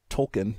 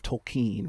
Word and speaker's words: Tolkien: of the outtakes I did call him Tolkien instead of tokine right but that's okay I think both are fine yeah Tolkien always makes